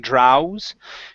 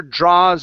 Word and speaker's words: draws: the word draws so when you have a a and a w together like this instead of saying DRS it's only an a sound when the Archer draws and holds try that